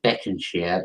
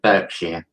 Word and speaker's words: Berkshire: i just realized yeah it's not pronounced beckons here it's pronounced berkshire so you're gonna say